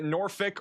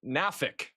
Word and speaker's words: Norfolk: If you can't call it nor blank, you can say Norfick or Nafic.